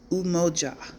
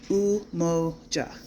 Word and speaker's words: Umoja: So day one, you would say Umoja, Umoja, spelled U-M-O-J-A, pronounced Umoja.